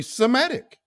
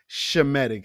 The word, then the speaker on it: Semitic: names that he used were overtly Semitic shemetic actually to be quite um correct in pronunciations how it should be said but you know um